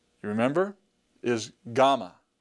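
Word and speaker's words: Gamma: letter you remember is GMA GMA I say it GMA notice it's going to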